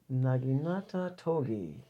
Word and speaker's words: Naginata Togi: Pronounce the word and guess the brand. Naginata Togi.